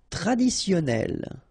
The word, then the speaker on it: traditionnel: Traditionnel. Okay, so you get double N here. Traditionnel.